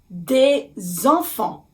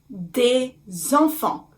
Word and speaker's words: des enfants: Des enfants. Des enfants. You can hear liaison because the word enfant starts with the vowel, which is the vowel E.